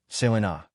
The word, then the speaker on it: Selina: They took shape, became specific, and it became notorious that Selina, pronounced Selena, Dr.